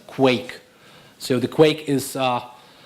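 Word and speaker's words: Quaich: that's the name of the project is it's pronounced quake so the quake is it's a drinking vessel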